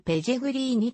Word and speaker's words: ペレグリーニ: のポジションはディフェンダースペイン語の発音の関係でマヌエルペジェグリーニと表記されることもあるイタリアにルーツを